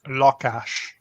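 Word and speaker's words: lakás: in Hungarian is pronounced lock Ash it sounds like the English word for law sounds like the English word for cash and again we emphasize that first syllable cash all right that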